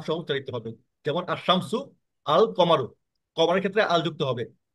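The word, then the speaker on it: القمر: আর কমারিতে লাম সহ উচ্চারিত হবে যেমন আশশামসু আল কমারু কমারের ক্ষেত্রে আল যুক্ত হবে মানে লাম আমাদেরকে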